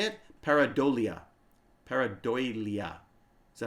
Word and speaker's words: pareidolia: I believe it's pronounced pareidolia. Yeah, how do you say that? Here we go. Pareidolia. Pareidolia.